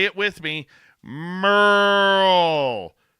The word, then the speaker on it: Merle: Merl.